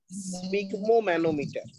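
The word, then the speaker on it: sphygmomanometer: আচ্ছা, এর উচ্চারণটা একটু কঠিন, ঠিক আছে, ভেঙে ভেঙে করবে। স্ফিগমো, স্ফিগমো, Mano, metre, স্পিগমোম্যানোমিটার।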